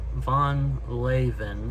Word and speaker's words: Van Leeuwen: we're going to try van lewins or Von laven I think that's how it's pronounced I looked it up